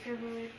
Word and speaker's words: favorite: My favorite color is blue. Good. I don't like mathematics. Maths? Math. Okay, same for me. Guys, favorite, 2 syllabes.